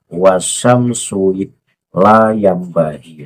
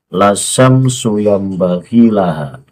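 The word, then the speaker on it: لَا الشَّمْسُ يَنبَغِي لَهَا: Padahal yang benar adalah lasyamsu yambaghi laha.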